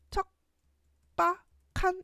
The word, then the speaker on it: 척박한: 일단 먼저 보면은 기억하고 비읍이 만났을 때 비읍이 쌍비업으로 변하는 된 소리 되기 된 소리 되기가 먼저 일어나서 척박한 이렇게 바뀌어야 돼. 그다음에 기억하고 히웃이 만나서 키역으로 변하는 거 거센소리 되기가 일어나서 결과가 척박한 이렇게 척 빡한 이런 소리가 납니다.